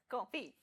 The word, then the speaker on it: confit: Confit. So what's the confit. It's pronounced Confit.